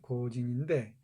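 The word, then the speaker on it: 行人: 가라타니 고진인데 여기 있는 이 고진 있죠, 고진. 연필해야 됩니다. 연필, 가는 연필해야 돼요. 여기 고진 있죠, 고진. 이걸 행인을 코진이라고 읽어요, 영어로.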